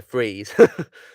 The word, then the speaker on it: Fries: how you know oh he said his name if it's a freeze and then they said they said they pronounced it it spelt like french fries yeah yeah stranger's death